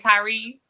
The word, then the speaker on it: Tyree: Is this how you pronounce it, right? Tyree?